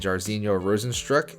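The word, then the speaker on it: Jairzinho Rozenstruik: coming off back-to-back losses to aleister overeem and jarzino rosenstrok and i'm incredibly impressed with myself for pronouncing that right i think the fight is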